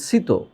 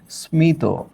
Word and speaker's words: স্মিত: তাহলে এই শব্দের উচ্চারণ হওয়া উচিত সিত। কিন্তু আমরা তো এটাকে ঠিকই এইভাবে উচ্চারণ করছি স্মিত।